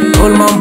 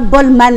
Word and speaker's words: Bolmam: Bolmam, bolmam, bolmam, bolmam, bolmam, bolmam, bolmam, bolmam, bolmam, bolmam, bolmam, bolmam. Il faut danser sans tour. L'amiral Willy Barry. Bolmam. Ils m'ont dit que c'est pas Bolman, hein, que c'est Bolmam.